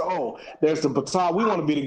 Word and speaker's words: Ptolemy: They say, oh, there's the Ptolemy. We want to be the gods too, so we're gonna call ourselves. You want to say Ptolemy, but I'm saying it's still. Why is the P not pronounced?